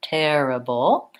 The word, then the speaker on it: terrible: has four syllable stress so long short short terrible and it has the vowel it in the middle syllable and a syllabic L which sounds kind of like bull bull with a dark L at the end terrible I have videos to